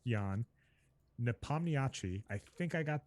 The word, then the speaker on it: Ian: It's Jan. So his first name it's spelled Ian, but it's pronounced Jan Nepomniachtchi.